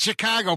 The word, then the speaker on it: Chicago: Well, there are a lot of locals that seem to think that it's supposed to be said Chicago. Chicago. Like a caw bird.